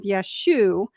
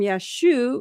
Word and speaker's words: Yeshua: we now understand that the form Yeshua likely reflect reflects Galilean dialectical pronunciation from the 1st century CE. In certain northern Aramaic-speaking regions, especially in Galilee, where many of Yeshua's early disciples lived, the final letter ayin was often dropped in common speech.